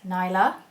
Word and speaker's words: Nyla: And basically pronounce her name as Nyla.